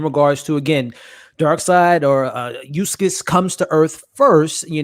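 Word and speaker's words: Uxas: panel was in regards to, again, Darkseid or Eustace comes to Earth first. You know, this is the land. Right, you got to educate me. Say that again. Eustace. Eustace. Some people pronounce it completely different, but Eustace before he's Darkseid.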